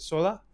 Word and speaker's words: Sola: And I want to make sure I'm pronouncing your name right. Is it Sola? That's perfect. Sola.